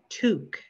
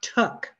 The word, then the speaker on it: Took: cream sundae it's annette pronounced toque with a long u not tuck like i stole something caitlyn gazed across the